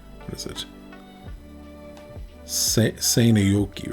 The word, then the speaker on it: Seinäjoki: Seinäjoki. So the A is an R sound if it has the thingy above it.